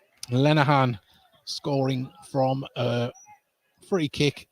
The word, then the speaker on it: Lenahan: Your goal scorer for Middlesbrough FC tonight, number 26, Donald Lenahan. Lenahan.